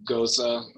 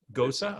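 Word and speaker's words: Gose: varietal's been working on a goes is that pronounced it goes like beer g-o-c we the people say gosa gosa okay german style of light uh sour salty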